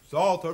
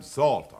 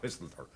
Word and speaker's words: Psalter: Psalter, Mr. Chairman, Psalter. Salt who? P-S-A-L-T-E-R, Psalter, not pistleter. The P is silent.